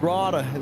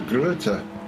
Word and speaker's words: Greta: Backenberg versus Grada. The 432 versus the 416 yet again. The battle renewed, I see. All right. I thought that was Greta. It is. I mispronounced.